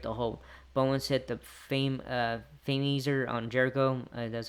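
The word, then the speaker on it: Fameasser: Bowens hit the Fameaser on Jericho.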